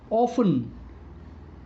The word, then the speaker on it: often: That they have a silent T. Silent T. Listen, soften, castle, often, which. Here the sound of T is silent.